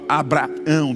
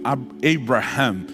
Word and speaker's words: Abraham: No hebraico aumenta um H antes do A. E muda completamente o fonema. É por isso que em outras línguas, como no inglês, né, não se fala Abraão, 2A, fala Abraham.